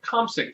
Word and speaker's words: Komsic: And we also have a English dark and mild ale called Cosmic Dark and Mild, spelled with a K. Yes, Paul That's his Komsic.